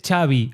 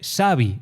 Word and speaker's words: Xabi: Eh, no se dice Chavi Alonso, se dice Savi Alonso.